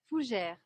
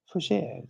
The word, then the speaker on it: fougère: Fougère. Fougère.